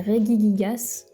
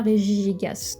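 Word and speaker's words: Regigigas: Oui, parce que j'ai appris qu'on disait Regiig Gigas et pas Riigas.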